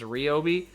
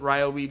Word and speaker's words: Ryobi: in case anybody knows, the real name of Ryobi is Ryobi. I pronounce it Ryobi because I've always pronounced it Ryobi, and a lot of people recognize it that way.